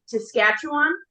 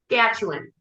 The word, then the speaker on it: Saskatchewan: But I'm probably still gonna he's going up to Saskatchewan.